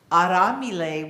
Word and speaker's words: aramile: Swahili and it's pronounced aramile with it's a r a well it's in your in your order of service a-r-a-m-i-l-e but the r is not an American R it's flipped so it's aramile you